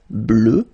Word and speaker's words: bleue: Okay, phonetically it doesn't exist because you don't pronounce it, so you get bleu as you would get for the masculine form.